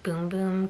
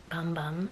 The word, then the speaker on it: Bum Bum: I have a Brazilian boom boom cream yes I know it says bum bum but it's pronounced boom boom if you've seen like